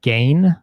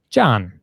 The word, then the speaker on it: Gian: I mean, so it is John. It's John. John. It's one syllable. That's John. the trick. GI in Italian is a diphthong.